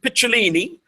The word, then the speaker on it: Picciolini: And we are officially live on air with Christian Picciolini, which is the Italian pronunciation for his surname, or his last name, as you would say in the US.